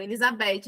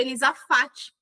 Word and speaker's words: Elizafate: Primeira, então era sempre, as pessoas sempre pronunciava qualquer outro nome que não fosse o meu. Elizabe, Elisafet, Elizete, qualquer coisa que não fosse o Elizafate, que foi o nome que o meu pai escolheu e me deu.